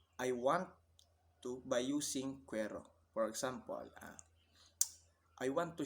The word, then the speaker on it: quiero: Um, in other words, we'll simply say quiero, pronounced quiero, which means I want.